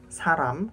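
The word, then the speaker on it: 사람: kalau ini ya lalu Saram Saram ini dibacanya R Saram karena di awal suku kata lalu contoh lagi bisa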